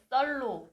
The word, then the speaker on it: 썰: 편하게 썰로 불러주시면 썰. 됩니다. 네, 썰. 네, 좀 세게 발음하는 겁니까?